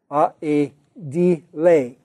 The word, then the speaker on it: aedile: He may have been an edile, or it may have been pronounced in Latin back then, aedile, but I'm just going to pronounce it, probably I should pronounce it ideal, but then you'll mix it up with idealism, so let me just say edile.